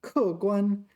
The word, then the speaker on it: 客官: Yeah, so we need to be careful to pronounce this correctly. 客观, 客观 is objective, and 客观, this one, this is like, I translate this to considerable.